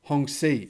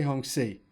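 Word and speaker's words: Hongqi: there's a few well i just learned how to pronounce the word hong c apparently is how we pronounce it not hong koi hong si so there we go hong si now given the market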